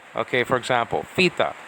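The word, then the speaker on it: θήτα: It's pronounced theta. Theta, like F-I-T-A. Okay, for example, theta, not theta.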